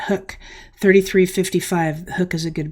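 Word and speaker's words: Huk: Hook, you pronounce that Hook, $33.55.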